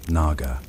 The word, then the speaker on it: Naga: When the sacred order is violated in Sanskrit, the name is pronounced with a soft aspiration at the beginning. A soundlike breath over water. Naga.